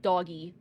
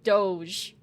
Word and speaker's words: Doge: was convinced that it was pronounced doggy and I'm like no it's Doge and it was very